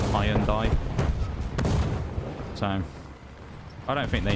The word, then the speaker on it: Hyundai: And they were saying you've been pronouncing it wrong all along when in their ads for about the last decade they call it high and die.